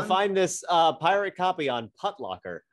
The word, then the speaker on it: Putlocker: I always pronounced it Putlocker, but that's a conversation Putlocker? For another day. I said putt. Putt. Yeah, I was going to say it's not called Foot Locker. It's Foot Locker rhymes with Foot Locker.